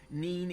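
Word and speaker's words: Nene: Neen is pronounced River Neen. Nen is pronounced Nen.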